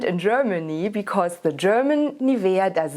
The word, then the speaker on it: Nivea: really have is nivea nivea is by the way the german pronunciation and now you will